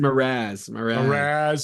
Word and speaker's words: Mraz: Oh, Jason Mraz.